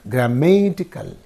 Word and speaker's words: grammatical: So here ikal is there. So ikal is there in this syllable, the suffix is in this syllable and in this syllable. So what will be the preceding syllable means? Only this becomes the preceding syllable. Okay, and therefore this receives the stress. Therefore you have to say grammatical.